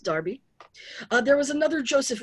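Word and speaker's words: Derby: that is how you pronounce pronounce that it's pronounced darby uh there was another joseph wright around so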